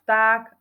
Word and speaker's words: vták: Máme tu napísané slov vták Ako sa píše čítame to ako vták ale pozor nepíšeme tam f píšeme tam v takisto slovíčko včela čítame